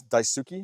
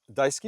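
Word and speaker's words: Daisuki: So, your most recent business is Dauki. Am I pronouncing that right? Dyski. Dyski.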